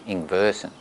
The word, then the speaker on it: Ingwersen: Well, it's been bastardised, you know, we just say Ingwersen, but it's the W over there is a V, you know, so it's, you know, if you went to Denmark where there were still Ingwersens, they would pronounce it probably Ingversen. Yeah. And it's the son of Ingvar, so Ingvar's son.